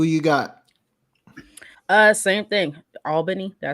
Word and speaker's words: Albany: kwalk Brit who you got uh same thing Albany did I say it right that time Al